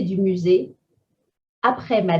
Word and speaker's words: après: Accent grave on E, après.